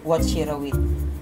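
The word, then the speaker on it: Vachirawit: Watchirawi. Ay, wa. You pronounce it as wa.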